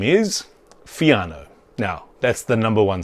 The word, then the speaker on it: Fiano: Its name is Fiano. Now, that's the number one step. It's really easy to pronounce.